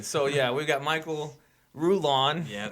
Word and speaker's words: Rullan: Well, it's actually Rullan. Wow. Because it's Spanish. He's already gonna start. Can I say Rullan?